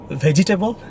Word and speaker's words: vegetable: Are you saying this word vegetable? Is vegetable. It's not vegetable. There is no table in it. It's vegetable.